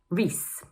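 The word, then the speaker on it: Rhys: Number two is pronounced: gray-um. And number three is: rees.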